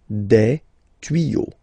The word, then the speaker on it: tuyaux: You won't add S at the end, but instead of S, you will put X. Okay. Des tuyaux. Same rule. You don't pronounce it. Des tuyaux. Okay. Un tuyau, des tuyaux.